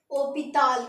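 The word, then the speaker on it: hôpital: है हमारा हॉस्पिटल तो हॉस्पिटल को फ्रेंच में बोलेंगे ओ पिता क्या बोलेंगे ओपल हॉस्पिटल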